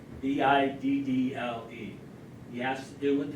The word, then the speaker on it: Biddle: And going with the bank war, second part of the question, who was Nicholas Biddle? B-I-D-D-L-E.